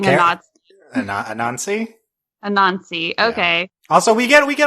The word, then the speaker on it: Anansi: Anansi.